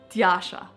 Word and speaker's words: Tjaša: just going to have to learn how to pronounce my name so Tasha this is a short summary of my life